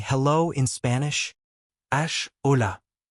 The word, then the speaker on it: hola: Ash hola. Correct. However, you shouldn't pronounce the H and just skip it.